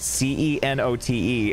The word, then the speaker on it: cenote: game green hill and i saw that word c-e-n-o-t-e and i was like i i have no idea how to pronounce this and then i had to look